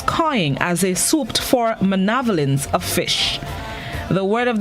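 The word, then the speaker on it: manavelins: at cables, gulls cawing as they swooped for manavolence of fish. The word of the day this morning is spelled M-A-N-A-V-E-L-I-N-S. It's pronounced manavolence, and it is a plural noun which means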